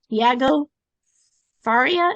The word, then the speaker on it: Tiago Faria: you meet a good friend of mine named dieago Faria is that correct yes indeed oh good I never know sometimes I mispronounce things but he helps coaches and mentors